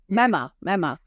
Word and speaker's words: Memma: Is that the right way to pronounce it? Memma.